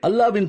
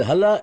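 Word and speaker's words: الله: அல்லாஹ்வின் திருப்பெயர் இதில் குறிப்பிடப்பட்டிருக்கிறது ஏ எல் ஏச் என்று எழுதுகிறீர்கள் நாங்கள் ஏ எல் எல் ஏச் என்று எழுதுவோம் பேசும்போது எழுத்து வராது அதை அல்லாஹ் என்று எங்கள் மொழியில் தான் உச்சரிக்க வேண்டும் இது ஹல்லா அல்ல அல்லாஹ் என்பதுதான் சரி சரி சரி சரி அல்லாஹ் அலா இல்லை அவர்களின் அடுத்த விளையாட்டு ஸ்கோபலின்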